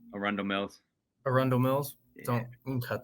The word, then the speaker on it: Arundel Mills: Gunnar and I made our trip to I don't know how to pronounce it. It was Andros Mall? Arundel Mills.